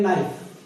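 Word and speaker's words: knife: अगला जो वर्ड आता है के, जिसकी मैंने शुरू में बात की थी, जैसे मैंने बोला था इसको बोलेंगे नाइफ, नाइफ, यहां पर के साइलेंट।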